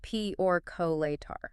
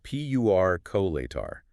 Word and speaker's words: percolator: The correct educated standard is P-U-R-colator. People very often insert a Y sound, making it Q. Again, pattern matching. Like calculator or speculator, our brains just sneak that Y in there.